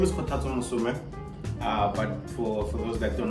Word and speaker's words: Kgothatso: Okay, so my name is Kgothatso, but for those that don't know how to pronounce Kgothatso, you can just call me.